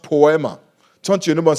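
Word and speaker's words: ποίημα: workmanship is actually a Greek word that is pronounced poema turn to your neigh and say poema po it is from that word that we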